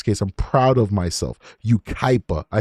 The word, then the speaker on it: Yucaipa: a long time where you know how to pronounce their crazy names like Yucaipa. I would have never known how to say that unless I was covering this case. I'm proud of myself. Yucaipa.